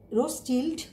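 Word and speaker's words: Rothschild: সাইফোনোপটেরার ক্লাসিফিকেশানে দুজন বিজ্ঞানীর বিশেষ অবদান রয়েছে, একজন হচ্ছে এগুলি বিজ্ঞানী, নামগুলি একটু বিদ্ঘুটে টাইপ, তোমরা বানানের সাথে সাথে উচ্চারণ করবে। একজন বিজ্ঞানীর নাম হচ্ছে রোসিল্ড বলে তাকে, CHILD রোসিল্ড বলে, এখানে এটার উচ্চারণটা হয় না CL, রোসিল্ড।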